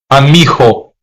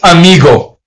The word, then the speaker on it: amigo: It's saying that if the letter G is between two vowels, then it's going to have a soft G. Even if the there's a vowel, the vowel O comes after the letter G. So the word the word amigo amigo, not amigo.